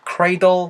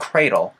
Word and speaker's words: cradle: 사이에서 D 사운드 굴려주면서 혹은 크 사운드 그래서 cral 혹은 cral 이렇게 사운드가나요 사운드 크레이 아니에요 아시겠죠 자 그래서이